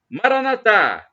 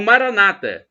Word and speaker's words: Maranatha: de Jesus o aramaico Eu Clamo Maranatha como dizemos nós católicos com a tônica na última sílaba ou Maranata como dizem os nossos irmãos separados protestante ou evangélico não importa a pronúncia porque somos